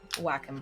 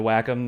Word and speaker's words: Wacom: And I learned it's pronounced Wacom when I called them, and I was like, my tablet's not working. And they're like, oh, Wacom customer service. I'm like, it's pronounced Wacom, not Wacom?